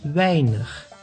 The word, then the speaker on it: weinig: A plus I together makes the sound ei, like in weinig, which means few.